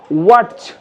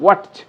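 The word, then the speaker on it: watch: ওয়াচ, আমরা যে হাত ঘড়ি পরি, ওয়াচ, যদি তুমি এটা সহ উচ্চারণ করো তাহলে হবে ওয়াচ, কিন্তু টিকে আমি এখানে মার্ক করে দিয়েছি, অর্থাৎ টি এর উচ্চারণ হবে না, টি সাইলেন্ট থাকবে, নীরব থাকবে।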